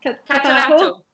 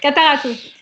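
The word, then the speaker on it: Catarratto: Catarato. Thank you. Catarato.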